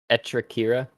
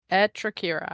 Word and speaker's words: Etrakira: Etrakira. Etrakira. I'm just gonna follow Etrakira. Just think of how like much accentuation the squirrel would have with its front teeth.